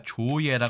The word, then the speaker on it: 造詣: 이게 뜻 지자이기 때문에 조지로 읽으시면 틀린 도금이 되기 때문이죠이는 한중일 3국 모두 다이 글자가 읽기가 어 어렵거나 틀리기 읽기가 쉬운네 그런 글자이 주의할 필요가 있습니다 이 글자는 우리가 조예라 읽습니다 두 번째 글자를 예라고 읽는 것이 상당히 특이한 것이죠 학문이나 예술 기술 따위의